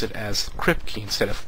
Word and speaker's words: Kripke: And as you notice, I was about to say Saul Kurp, because that's how I've been pronouncing his name for quite a while now,